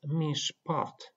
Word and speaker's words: mishpat: The word mishpat. We have a Shewa, and the preceding vowel is hirek, and hirek is a short vowel, and it means that the following Shewa is silent and it is not pronounced, and we read this word as mishpat.